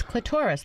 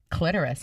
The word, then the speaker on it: clitoris: it clitoris or clitoris its clitoris like Dolores remember people do say clitoris also but I don't think it's right because who would say Dolores is so where whatever